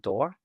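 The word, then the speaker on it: DOR: One of which is called T assets and the second of which is called door and door stands for decentralized offer rate. So it's spelled D O R.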